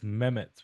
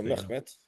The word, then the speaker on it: Mehmet: By the way, it's Mehmet with a silent M. I mean silent H, not Mehmet. So Mehmet.